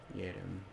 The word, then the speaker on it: Yerim: I'm actually glad I'm wearing headphones now that I've actually heard the correct pronunciation on that, because man, it was driving me nuts. Yerim. I was way off.